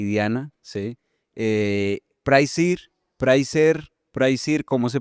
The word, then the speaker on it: Prisier: Bueno, se llama Pricer. Técnicamente nos llamábamos Prisier, pero nadie nos dice nunca Prisier, entonces nos quedamos prer y ya todos le decimos prer.